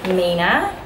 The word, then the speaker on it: 3INA: makeup haul from a brand called Amina this is how it is pronounced like not Mena is how it's pronounced and then up on the website it's like a three and an iron a and but they very